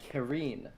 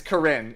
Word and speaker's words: Corinne: said Kareem or Karen a lot of people pronounce it differently I know Jenkins yeah it is yeah it's Corinne if you go to her summon animation she pronounced it she's like it's like my name is Corinne Fontana fantainer or something